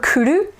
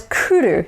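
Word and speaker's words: 来る: Kurumi, walnut, kuru, the verb kuru. Notice that it's kuru, not kuru. Or kuru. It's really hard to mispronounce Japanese, by the way. So kuru versus kuru.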